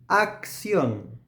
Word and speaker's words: acción: Acción, acción. For English speakers, it might sound like an X sound.